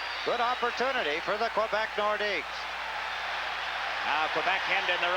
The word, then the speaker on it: Nordiques: I guess it's proper to say Nordique, isn't it? It's like Coliseum, the Coliseum. Here in Quebec, it's the Coliseum. And it's not Nordiques, it's Nordique. That seems to be the pronunciation I hear more than any other from the Quebec people.